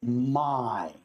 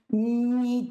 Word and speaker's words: my: decir I, yo digo my, no me. Muchas personas dicen mi teacher y es my teacher, ¿sí? Y está bien, empiezan a corregir tus pronunciación y es correcto, pero la pronunciación correcta es my.